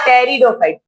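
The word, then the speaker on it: pteridophyte: आर the different divisions टेरिडोफाइट P silent है P silent है angiosperms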